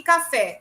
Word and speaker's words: café: Cajá e café. Vejam que aqui são oxítonas. Elas têm sílabas tônicas no final.